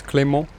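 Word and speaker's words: Clément: Because the E is the E from cliché. So it's Clement.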